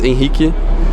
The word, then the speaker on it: Henrique: The Brazilian pronunciation is Henrique.